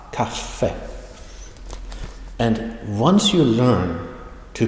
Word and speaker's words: kaffe: You pronounce it with a very short kaffe.